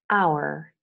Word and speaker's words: hour: Okay, in the following words, the H is mute. Hour, honest, honor, air, herb, and herbal.